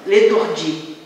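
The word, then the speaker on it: L'étourdit: Trata-se de um neologismo construído pela inclusão de uma letra que se escreve, mas não se pronuncia, o T final, né?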